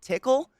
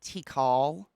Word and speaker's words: Tikal: So I went to the dispensary last night and I actually asked how to pronounce this because you know how I've just been calling it tickle. I was like, how do you pronounce that? Apparently, it's tikal.